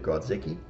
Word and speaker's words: Grodzicki: And this is by Stephen Grodzicki. That's how you say his name.